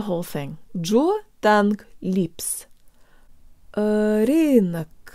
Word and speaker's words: рынок: let's do the whole thing jaw tongue lips Irene Irene Irene Irene Irene Irene neck Irene Irene look that's it guys huge shout out to mr.